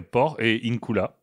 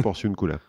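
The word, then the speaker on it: Porciúncula: Bah, il y a port et incula. Non, c'est un seul mot, Porciuncula.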